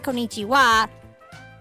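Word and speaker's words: こんにちは: same W as in Konichiwa. That's so fun. It's funny because the wah that's in what what's in konichiwa is not actually wah. It's ha. But in that spelling it's pronounced wah.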